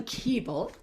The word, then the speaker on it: Koebel: Carolyn Koebel, and I'm glad she told me how to correctly pronounce that. It's like Knish, you know, it's one of those names.